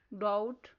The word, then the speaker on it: doubt: Words are thumb, doubt, plumber. Next silent letter is R.